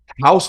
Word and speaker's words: Häus: is one of them House Blend podcast so it's still pronounced like house like uh like American house um um yeah we